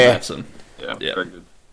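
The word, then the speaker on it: Maatsen: I'm pretty sure Matson. Yeah. Very good. Um, hang on. How do you spell it?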